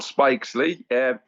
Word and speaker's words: Spiksley: why was he so remarkable um firstly scott spikesley lots of people get his name wrong i did wonder when i was saying